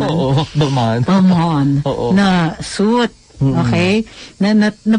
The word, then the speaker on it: Balmain: Balmain ba yung pronunciation? Oo, Balmain.